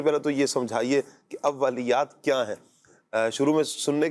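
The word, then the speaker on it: اوّلیات: اولیات، واو کے اوپر جو ہے وہ تشدید ہے، تو جسے اول ہم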